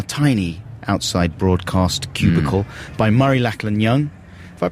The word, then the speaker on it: Murray Lachlan Young: We're very pleased to be joined in our tiny outside broadcast cubicle by Murray Lachlan Young. Have I pronounced your name correctly there?